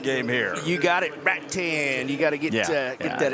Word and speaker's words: Rattan: You got it, Rattan.